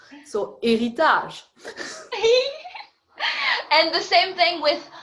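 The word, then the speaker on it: héritage: so heritage yeah so in french we don't pronounce the h so eritaz and the same thing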